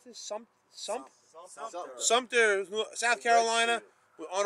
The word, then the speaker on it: Sumter: How do you pronounce this? Sumter.